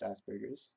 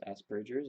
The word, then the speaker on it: Asperger's: up with Asperger's I understand that it's not pronounced Asperger's it's Asperger's it's not strain word named after of course